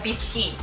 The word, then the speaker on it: biscuit: the first type of sponge cake is the bisy it's actually written like biscuit but it's pronounced biscuit so this tends to be a